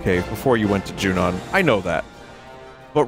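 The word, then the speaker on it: Junon: headed to is that junan Shinra territory come on I thought it was pronounced junun when I was younger also Johnny Greenwood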